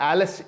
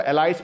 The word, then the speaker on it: एलिस: ये पोम जो है, ये जो एलिस इन वंडरलैंड, आम लोग इसको एलाइस पढ़ते हैं, इसकी प्रोनाउंसिएशन एलिस है, एलिस इन वंडरलैंड, वहाँ से ये ली गई है।